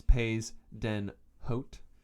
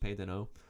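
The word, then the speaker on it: pays d'en haut: deno which is french spelled it's spelled phonetically as pais den haute but it's pronounced pedano ended with the war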